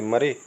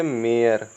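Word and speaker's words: mare: या सरे पढ़ेंगे, या डरे पढ़ेंगे, या डी ए आर ई लिखना है, इसको क्या पढ़ेंगे? डरे पढ़ेंगे क्या? या एम ए आर ई को क्या पढ़ेंगे? मरे? नहीं, ये सब होते हैं गलत प्रोनाउंसिएशन।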